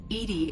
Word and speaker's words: EDI: behind the medical bay why are you named edie edie is the phonetic pronunciation of edi that is an acronym for